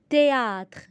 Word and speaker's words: théâtre: Théâtre. Ici, le H est muet au milieu du mot.